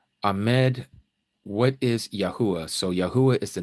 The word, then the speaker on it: Yahuah: So Yahuah is the name of the creator.